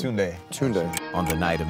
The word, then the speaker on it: Tunde: It's Tunde.